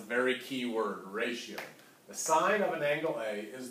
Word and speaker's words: sine: Please don't say sin, I might pick on you a little bit, all right? It is the sine of angle A, all right? It is spelled S-I-N-E, sine of angle A,